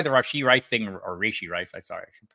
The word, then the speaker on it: Rashee Rice: That's why the Rashee Rice thing, or Rashee Rice, I should pronounce it correctly, was so odd because the Chiefs are really transparent.